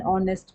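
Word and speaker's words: honest: my father वास एन ऑनेस्ट मैन बिक एच है एच में ओ की साउंड है एच साइलेंट एन ने टुमारो इवनिंग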